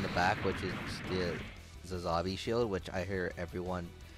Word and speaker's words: Sazabi: other YouTubers pronounce it Sazabi when, in the actual show and stuff, it's pronounced Zazabi.